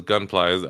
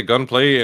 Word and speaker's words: Gunpla: "What the hell is Gunpla?" Are they trying to say gunplay and they just misspell it multiple times? No, Gunpla is like the the um models Gundam plastic.